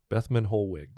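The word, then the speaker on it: Bethmann Hollweg: his name uh this is uh Theobald van bethman holg that's right bethman holwick so so he served under Wilhelm um his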